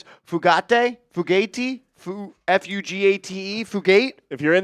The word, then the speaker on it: Fugate: If you're in the chat, let us Fugati. know what the I think right it's pronunciation is. Yeah, Fugati. When there's the vowel at the end, you usually gotta like kind of.